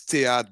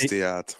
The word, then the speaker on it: Theate: It's Theat, by the way. It's pronounced Theat.